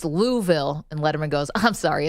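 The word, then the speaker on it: Louisville: I was always curious how do you pronounce the capital of Kentucky is it luville or is it louville he goes well Dave it's it's louville and Letterman goes I'm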